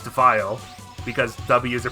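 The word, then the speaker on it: Weil: So, I believe his name is just supposed to be pronounced, like, with a German W.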